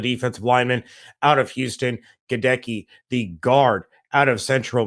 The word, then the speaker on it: Goedeke: with second round picks logan hall and luke goddecki yes gedecki he does speak about the pronunciation of his last name logan hall the defensive lineman out of houston godeki the guard out of central michigan and former